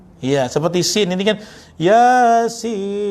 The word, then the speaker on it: Yasin: Kebanyakan nih, maaf ya, orang yasinan 95% salah. Ya, dia ya-nya panjang, sinnya pendek.